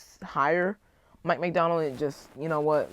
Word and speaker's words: Macdonald: So that is the big difference between Mike Macdonald and I pronounced his name wrong in the beginning. I said McDonald. It's Macdonald.